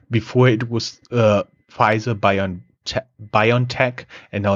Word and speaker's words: BioNTech: They get a 340 million euro payout from their investment in the Mainz-based BioNTech, which is the German pronunciation of what Americans call BioNTech.